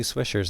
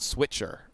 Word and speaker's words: Swisher: I've asked about like the pronunciation, and they say you need to pronounce it like swisher, not switcher, or something like that.